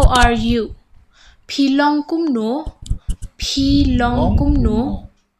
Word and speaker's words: kumno: Filong kumno. Pilong kumno. Okay. How are you? Pilong kumno. You pronounce it wrong. You're laughing, huh? Once again, say. Bilong komnu. Kumno. K-U-M. Kum.